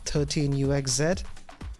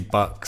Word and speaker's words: 13uxz: Also goes by the name of 13 UXZ. Am I saying it right? Uh almost. It's actually Bucks.